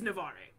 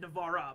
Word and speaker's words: Navarre: the Castilians aiding him so it is Navarre I said Navarra but it's Navarre so I still got